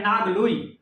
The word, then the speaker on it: नांगलोई: दिल्ली में भी जाइएगा तो एक मेट्रो स्टेशन है नागलोई, तो नागलोई के ऊपर नांगलोई उसको कहा जाता है।